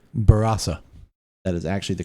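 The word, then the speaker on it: Barossa: enough to uh correct us actually on our pronunciation which we should actually be saying barasa that is actually the correct way to say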